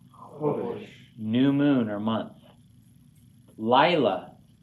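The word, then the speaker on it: לילה: Lila. Accents on the first syllable.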